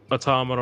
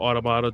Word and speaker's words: Automata: Blade is like a near automata or automata, depending on how you pronounce it, clone, but it's